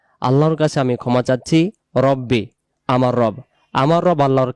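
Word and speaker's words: رَبِّي: আস্তাগফিরুল্লাহা রব্বি মিন কুল্লি জামবিউ। এই দোয়াটি যে আমরা পড়ি অনেক জায়গায় উচ্চারণটা ভুল হয়।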